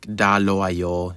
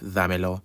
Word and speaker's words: dámelo: and they'd say stuff like dalo a yo instead of dámelo.